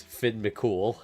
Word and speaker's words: Finn McCool: Finn McCool? Yeah, yes, that is how you pronounce his name. It's Finn McCool.